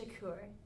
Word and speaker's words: Shaker: It's pronounced Shakur.